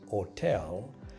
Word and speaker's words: hotel: Remember also that H, H in Italian is silent. So if you have a word like hotel, that H doesn't count.